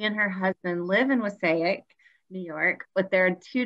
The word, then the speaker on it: Wassaic: Bowie Barnett Zunino is a founder and co-executive director of the Wasaic. Oh, did I say it right? Okay, good. The Wasaic Project.